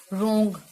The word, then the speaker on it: wrong: रोंग, WRONG, रोंग, इसमें W silent है।